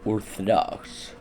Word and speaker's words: Orthodox: Let's think about the English word Orthodox. This English word includes three instances of the same vowel (O), but each one carries a distinct sound, the first being a pretty standard English O, the second creating a